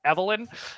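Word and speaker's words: Evil-Lyn: And so, yeah, it's pronounced Evelyn.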